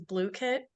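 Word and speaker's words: Blooket: also um completely free they also have it pronounced as blue kit oh my God so I've been pronouncing it book it like for the last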